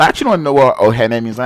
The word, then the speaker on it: Ohene: And I actually don't know what Ohene means. And I think it's like Ogene, but Ogene is not pronounced Ogene, right? It's actually Ohene, but whatever.